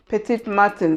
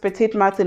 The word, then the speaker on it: Petit Matin: I definitely know it's a French word, Petit Matin. So I don't know why I was thinking it's Martin as in Martin the name, but there's no R, so it's just Petit Matin, and Petit Matin means little morning.